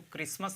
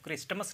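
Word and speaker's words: Christmas: जैसे ये होगा क्रिसमस, इसको क्रिसमस आपने देखा होगा, क्रिसमस पढ़ते हैं इसको, और क्रिस्टमस नहीं कहते हैं, जबकि लिखा क्रिस्टमस है, तो टी यहाँ पे साइलेंट है, इसलिए हमको टी को नहीं पढ़ेंगे, क्रिसमस बोलेंगे, ठीक है।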